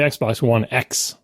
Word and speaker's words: Xbox One X: they also had the Xbox One X which is not s that's right but it sounds like it x x was like the and it's not pronounced 10 yeah X was the